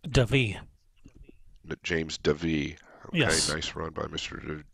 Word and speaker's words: Davee: I nice run by James how do you pronounce his last name it's David James Devi okay nice run by Mr Debbie and he